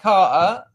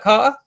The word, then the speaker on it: Carter: Did you hear how I pronounced your name then? Carter? There's no T. It's very working class Southeast England.